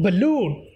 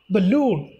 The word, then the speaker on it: balloon: Next one, balloon. Balloon. In this one, second syllable go to the stress.